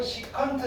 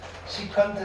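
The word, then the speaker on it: secant: 자, 코사인의 역수를 우리는 뭐라고 할 거냐면은 얘는 S, EC라고 쓰시고요. 시컨트 세타라고 읽어요. 시컨트 세타. 시컨트 세타.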